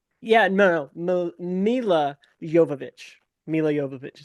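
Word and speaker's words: Milla Jovovich: Mila Yovich is how you say it.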